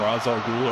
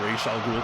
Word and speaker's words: Ra's al Ghul: Batman, he's got that kendo stick he learned from Ra's al Ghul or Ra's al Ghul, depending on your preferred pronunciation.